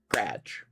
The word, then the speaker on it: garage: Like as an example, my mind garage is 2 syllables. Garage. Right? But I grew up hearing people say graj. 1 syllable, graj. Not 2 syllables. But 1 syllable, it was a graj. Not a garage. Not a garage, but a graj.